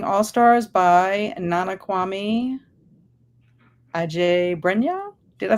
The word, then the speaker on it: Adjei-Brenyah: We're talking about Chain Gang All Stars by Nana Kwame Adjei-Brenyah. Did I say it right? Yeah, Adjei-Brenyah.